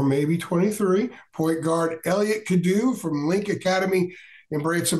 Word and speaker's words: Cadeau: so your thoughts on Elliott could do I believe that is the proper pronunciation popping for North Carolina